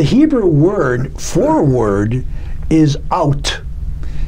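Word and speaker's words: אות: The Hebrew word for word is out. It's spelled Aleph Vav Tav, or in English it'd be A-U-T.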